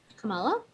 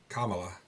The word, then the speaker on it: Kamala: I love that you don't say her name properly. Kamala? Kamala. Oh, sorry. That's all right. It's the accent. It's the accent. I put the right emphasis on the right syllable.